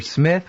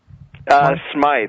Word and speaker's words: Smythe: He recruits this guy Smythe, or Smith, which is it? Smythe. It's spelled with a Y.